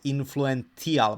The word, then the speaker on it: influential: word influential influential influential here we have a t you know influential influential but you pronounce it influential like a c you know influential and